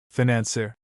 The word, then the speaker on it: financier: He has, for example, always said, financier, with the accent on the last syllable, and if he has consulted his Webster he has found that there was no choice for him. Then, When he hears it pronounced at Oxford by the head of a college with the accent on the second syllable, and learns on asking